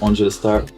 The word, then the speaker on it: Angel5tars: Ok, alors moi c'est Angel, nom complet Angel 5 Star, qui se prononce Angel Star, 5 étoiles.